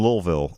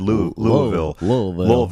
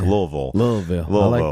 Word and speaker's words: Louisville: I was in Louisville, which is apparently how you're supposed to pronounce it. I said Louisville to Brittany and Zach, and they were very offended. No, they made sure to correct me that it's like Louisville.